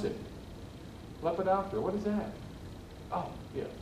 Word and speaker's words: Lepidoptera: butterflies at nine years old i called it lepidopara that makes sense right i was in college where i heard somebody pronounce it lepidoptera what is that oh yeah right so lepinoptera the order lepidoptera the butterflies they include the butterflies so butterflies